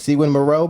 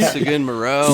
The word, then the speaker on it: Seguin Moreau: How do you say that? Sequin Moreau barrels. I said it. I don't know if I said it any more correctly than you. Like, I say Seguin Moreau.